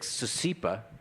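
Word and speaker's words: C-SIPA: It's pronounced, I think, CICIPA.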